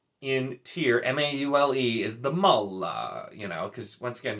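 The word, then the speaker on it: Maule: is the maul in tier m-a-u-l-e is the mullah you know because once again just have to pronounce the e the worst one so this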